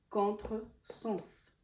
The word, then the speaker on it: contresens: Si vous voyez dans ce mot-là, quand je l'ai prononcé, le S, il ne s'est pas prononcé Z, il ne s'est pas prononcé le son Z, il s'est prononcé en son S, contresens.